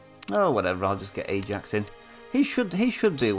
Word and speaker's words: Ajax: And this is Ajax, not Ajax, because Ajax is the Dutch football team. They call it Ajax because they don't pronounce the J's properly. I think anyway.